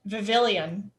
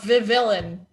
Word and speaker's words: Vivillon: oh okay you get vivilian i already missed my pokemon i don't know